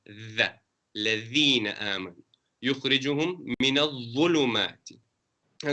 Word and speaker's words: الذين: Allahu waliyul ladhina, not lazina. It's not za, it's the. Ladhina aman.